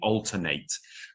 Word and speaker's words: alternate: I would alternate. Now a similar word is the word alternate which is uh which is an adjective. Um, and the that that is pronounced differently but spelled exactly the same.